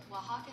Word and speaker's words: Oaxaca: Oaxaca cheese. Oaxaca cheese. I never would have thought that from how that's spelled. Oaxaca cheese. Yeah, that O and that A makes a W sound.